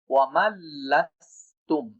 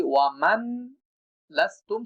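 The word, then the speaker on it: وَمَنْ لَسْتُمْ: প্রথম ভুলটা হওয়ার কারণ হচ্ছে নুন লামের সাথে যুক্ত হবে, এই জন্য নুন উচ্চারণ করা যাবে না।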